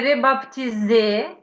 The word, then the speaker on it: rebaptisé: oui, rebaptisé. Можна так сказати, un truc rebaptisé? Baptisé, не бап, Ah oui, rebaptisé. П. П не вимовляємо, да?